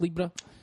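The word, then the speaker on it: Libbra: Mark Libra. No one remember Mark Libra? Does anyone remember Mark Libra? Mark Libra played for Hibs and I think he scored about 20 goals. Name rhymes with zebra.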